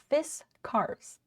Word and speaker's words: Fiskars: tell what they are fiskars fists cars in case you don't know how it's pronounced oh cool it has